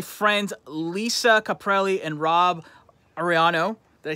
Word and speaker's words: Arellano: I have my friends Lisa Caprelli and Rob Arellano. Did I say it right? You got it. All right. Oh, man, I got to... You can roll your R, but other than that, Arellano.